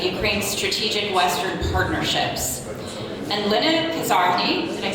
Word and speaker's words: Lenna Koszarny: And Lenna Koszarny, did I say it right?